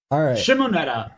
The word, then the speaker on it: Shimoneta: so next week I already forgot how to pronounce this shimonita Netta yeah it's the shiver guy make me pronounce